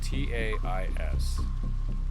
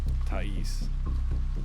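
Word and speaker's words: Taís: Spelled T A I S, which is apparently pronounced Tis. Tais.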